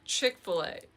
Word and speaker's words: Chick-fil-A: So Chick-fil-A, it used to be spelled like chic c h i k and then f i l a.